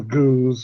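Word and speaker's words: Gueuze: there was such a debate of how to pronounce it, and it turns out both beers do. It's Goes or Goza. Yeah. The Goose, and one is like a French style farmhouse,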